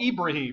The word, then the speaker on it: Ibrahim: way back to Abraham whom they call ibraim but it's the same guy just the way you pronounce his name and a lot of